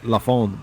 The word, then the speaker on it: La Fin: I think it's Lafon, but it's spelled Lafin, LA space FIN.